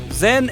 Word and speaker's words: Yen: le nom de canton Zen est la prononciation du nom de la fille de la dialecte Pékin tandis que la famille yen et la prononciation cantonnaise le père de la